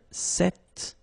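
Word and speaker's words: cette: if you listen carefully the masculine form here set and The Feminine form here set you write them differently but then you pronounce them the same way all right for the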